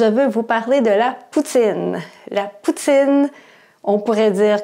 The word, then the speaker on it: poutine: Donc, un Européen ou quelqu'un qui apprend le français va dire de la poutine. Mais au Québec, c'est de la poutine. Donc, la prononciation est très importante.